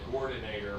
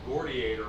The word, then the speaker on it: Gordiator: Yeah, you said Gordinator like it was Terminator, but it's Gordiator like it's Gladiator.